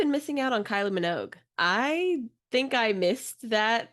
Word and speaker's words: Minogue: Yeah, and I've really been missing out on Kylie Minogue.